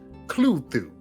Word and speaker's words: Cthulhu: I found out that the actual pronunciation that they were shooting for is clue through or Hulu or something like that that sounds less intimidating